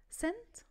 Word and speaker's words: scent: قاعدتنا بتقول don't pronounce the C letter أو the letter C if it comes after the letter S.